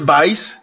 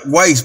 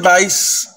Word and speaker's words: Weisz: la actriz es está rachel vice creo que así se pronuncia rachel weisz y no que la doble o se aprecia cómo ve la casa lo que pensaba wise pero supuestamente por ese